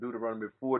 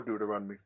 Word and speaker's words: Deuteronomy: what's going on in Deuteronomy not do to run before Deuteronomy say it right him in the book